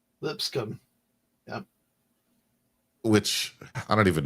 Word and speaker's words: Lipscomb: Lipscomb, Lipscomb. Yep. which I don't even know where that school is. So In Nashville, Tennessee. okay. It's just the B is silent, and people can have